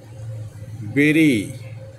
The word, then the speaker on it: berry: তারপরে হচ্ছে কি বেরি, কবর দেওয়া। বেরি হচ্ছে কবর দেওয়া, BURY বেরি, কবর দেওয়া। আরেকটা হচ্ছে BERRY, এও বেরি উচ্চারণ হয়, বেরি, বেরি, এটা বেরি উচ্চারণ হয়, বেরি একটু টান দিয়ে বলতে হবে।